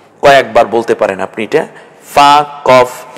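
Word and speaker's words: فاء: তাহলে হরফের নাম হবে ফা ফা নিচের ঠোঁটের পেট এবং সামনের দাঁত মিলে উচ্চারণ হবে ফা মাখরাজ নিয়ে আমি এখন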